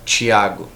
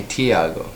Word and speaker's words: Thiago: Because, like, my name is supposed to be said Thiago. But people call me Tiago, which is fine.